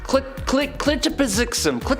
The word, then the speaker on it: Mxyzptlk: Clitopizixum.